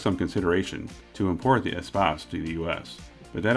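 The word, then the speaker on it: Espace: that began in 1984 which most americans would probably pronounce as e-space but i think the correct pronunciation was probably closer to espos so for my european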